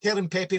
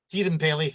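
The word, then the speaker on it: Teerenpeli: Was it Terran Pepe for a while? The Tierenpeli. Tierenpeli, that's how you pronounce it.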